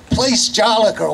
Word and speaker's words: Place Jolicoeur: But Woonsocket is a French community, and we do speak backwards because in France we put our nouns before our adjectives. So this, you say place Jolicoeur.